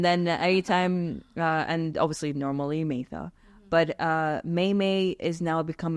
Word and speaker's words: Maitha: When I was in Australia, people did not know how to pronounce Maitha. Okay. I was actually called Martha one time.